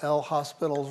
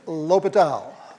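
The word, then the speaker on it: L'Hôpital: You use that famous rule that we all mispronounce when we see it written, right? We use good old L hospital's rule. Okay, it's Latal Latal's rule.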